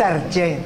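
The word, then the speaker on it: ἀρχή: no está mal que lo sepamos se pronuncia No es arché eso parece no sé cosas raras no no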